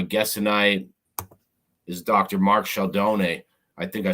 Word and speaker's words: Scialdone: tonight is Dr Mark Shalon I think I said it right huh yeah yeah yeah that's I think it it's in in English it's sheldone because the E is silent like Stallone the E is silent